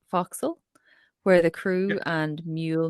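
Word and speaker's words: forecastle: part of the ship I believe it's pronounced foxal where the crew and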